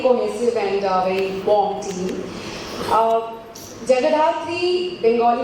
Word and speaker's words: Jagadhatri: Jagadathri, Bengali में अगर बोलूँ Jagadathri, being a Bengali, I would want to pronounce it that way, is जैसे show का